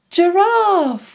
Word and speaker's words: giraffe: Giraffe starts with a soft G sound. J, J, giraffe.